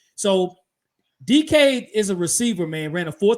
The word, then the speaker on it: Dike: Dike is how you say his last name. It's spelled weird.